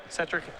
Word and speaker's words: Cetric: pretty close to fonetic how would you pronounce my name Patrick cetric not not Cedric you wouldn't do that well most people believe that it is Cedric pretty quickly and they get it wrong they got it wrong